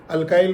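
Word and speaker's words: alkyl: अल्काइल groups या अल्किल groups, जैसे आप प्रोनाउंस करना चाहें वैसे कर सकते हैं।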